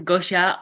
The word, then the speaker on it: Gosia: to say his name, either Gosia or Gosha. Please stay away from and ask your question. Hi, my name is Gosia.